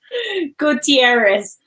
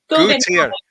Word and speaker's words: Gutierrez: Gutierrez. Gutierrez. I wanted to hear your pronunciation.